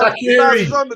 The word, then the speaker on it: Shaqiri: Shaqiri. Simple. How do you pronounce his first name?